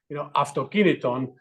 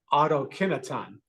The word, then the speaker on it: Αυτοκίνητον: which is actually the company name is Αυτοκίνητον, but in English people pronounce it autokineton.